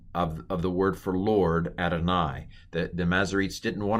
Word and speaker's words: Adonai: another way it's written yave but it's spoken adonai so the vowels this is a vocal schwa